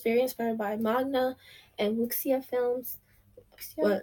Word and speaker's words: wuxia: It has an X in it, so I kind of want to pronounce it like an English S, but I know better than to pronounce it like that.